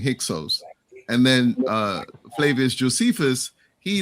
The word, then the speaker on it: Hyksos: So I would say that, so Heka Kesut, which was more like kind of like the original pronunciation, it means foreign rulers. And then it was Manetho who started saying Hyksos.